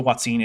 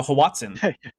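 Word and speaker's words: hoatzin: But they always say it wrong, though. They always call it the Hawatsin. The Watson, yeah. No, I've yet to hear a young Earth creationist say Watsine.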